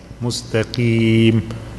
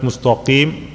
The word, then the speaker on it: مستقيم: قاف here has a kasra, it's a harf al-isti'la. To make full kasra, we have to make less heavy. مستقيم, not mustaqim, because kasra is not full.